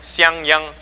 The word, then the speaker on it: Siang Yang: And by the way, that's how you pronounce my first name, and Richard got it right. It sounds like Yang Yang. And you put an S in front, you get Siang. Siang Yang Tan, that's my name, okay?